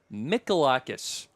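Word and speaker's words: Mihalakis: It's a silent H. Well, we'll spell it out for you guys at home. M I H A L A K I S. Molakis.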